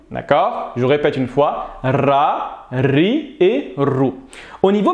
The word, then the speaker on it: ر: Faites attention de ne pas confondre avec le R français. La lettre Ra est plus similaire au R espagnol qu'au R français. Donc, nous allons dire Ra, Ri et Rou.